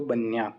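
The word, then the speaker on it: bagnato: मतलब गीला है तो बन्या तो जी रहेगा साइलेंट बन्या तो नो नो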